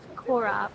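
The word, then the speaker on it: Chora: got the whole of Kora in the background k K so it's c h o r aora I think the C is silent and the H is like you've got popcorn in your throat oh they Ben nailing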